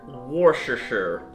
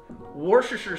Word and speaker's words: Worcestershire: Next thing you need, 2 dashes of, how do you pronounce it? Worcestershire? Worcestershire. Worcestershire sauce.